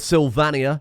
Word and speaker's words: Sylvania: I've gone with Sylvania. It is pronounced that, not Sylvania. Britannia, Sylvania. And then instead of Germania, it is Germania-Elf, which was really as good as it got.